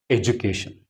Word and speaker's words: education: in the word education, D is followed by U. So here it is making the sound of Ja. That is why it is pronounced as education.